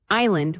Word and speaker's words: island: thanks to Latin influence, island with a silent s mistakenly added due to a false link to Latin insula, or salmon with a silent L.